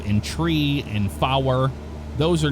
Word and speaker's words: three: ner tree let say tree now I want to explain that that is phonetically correct uh instead of five you'd say five instead of three you'd say tree nine is Niner uh